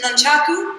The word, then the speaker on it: nunchaku: So, this is nunchaku. Nunchaku is the correct way to say it.